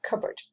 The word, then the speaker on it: cupboard: long piece of wood put cup and board together and you get cupboard we pronounce it differently cupboard there's some nice kitchen